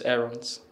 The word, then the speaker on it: Aarons: My name is Rolando James Aarons.